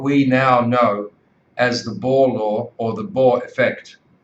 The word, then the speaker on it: Bohr: don't understand what we now know as the Bohr law or the Bohr effect, Buteyko's method doesn't make sense in a way.